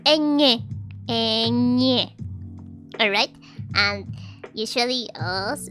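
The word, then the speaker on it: eñe: So it is pronounced N, Nye, as if you were saying like Nya, but it's a bit hard to pronounce for some people.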